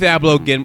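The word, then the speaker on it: Ablow: Keith Abloh. Have you looked? Somebody, give me that clip. Just Google Keith Abloh Glenn Beck.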